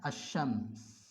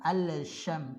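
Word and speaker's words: الشمس: Kemudian dibaca seperti namanya asy-syams. Cara membacanya seperti ini. Ya. Berarti tadi ditasydid. Ya. Lamnya tidak dibaca, bukan al-syam, salah. Al-syam salah.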